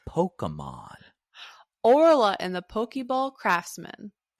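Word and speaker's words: Pokémon: Sorry. It's Pokemon. Pokemon. That's how you say it. Pokemon.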